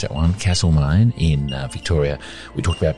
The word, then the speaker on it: Castlemaine: Carefully pronounce that one. Castlemaine in Victoria.